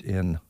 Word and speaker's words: Neill: And I'm not sure how to pronounce this last name. It's Sam Neill. It's Neill, age 74.